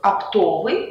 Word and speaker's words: оптовый: падает на первый слог оптовый ударение падает на второй слог оптовик ударение падает на